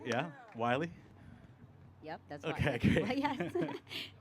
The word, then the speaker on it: Willey: Wy. Yep. That's okay. Great. Yes. Like the coyote.